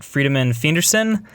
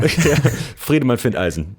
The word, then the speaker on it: Friedemann Findeisen: And I know I'm going to mispronounce the name, but Friedemann Findeisen, is that? Well, nope, I got it wrong. Friedemann Findeisen, but thank you very much.